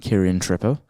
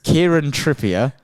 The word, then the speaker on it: Kieran Trippier: this surprised me but which Defender who isn't Kiran Tripper who I butchered that name there do you know I was reading the name Kiran Trier Kiran Tripper Kieran trippier let me start that game by the way